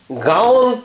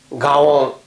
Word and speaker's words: GAON: 少し難しい感じですがこれをねガウンと発音しますガオンまあ一応ここ